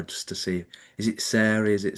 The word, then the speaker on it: Sarie: And today I'm joined by Sar Taylor.